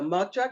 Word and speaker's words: matcha: I got the matcha green tea.